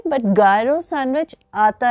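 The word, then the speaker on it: gyro: New York में Greek sandwich, गायरो sandwich मिलता था, लेकिन उसकी प्रोनाउंसिएशन सही तरीके से न्यूयॉर्क में उस वक्त बोली नहीं गई, तो वो गायरो का हीरो बनता चला गया।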